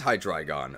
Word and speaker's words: Hydreigon: Dre is pronounced like dry? Oh, it is Hydreigon, okay.